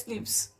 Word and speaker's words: SNPs: snps single nucleotide polymorphism pronounced as snips occur in humans.